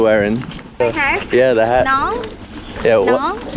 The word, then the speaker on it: nón: Nón. Yeah, what? Nong. Nón. Nong. Nón lá. Nong na. I don't think I can pronounce anything right.